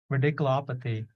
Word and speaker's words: radiculopathy: um so so ridiculous so you just say ridiculo and then pathing radiculopathy so you have to pronounce the law like lopathy so radical op try